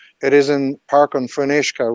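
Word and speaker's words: Fionnuisce: is in park and funishka which in Gaelic means Park of the clear or still water but the British couldn't pronounce phoenixka so they named it Phoenix uh like the Phoenix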